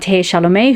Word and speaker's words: Chalamet: way um the actor timothe charlomei who plays paula tradies or timothy chalamet i've heard it pronounced both ways he is also in